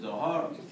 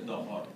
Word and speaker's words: Dhuhr: Some pronunciation is Zohar, but the more correct is a Dhuhr.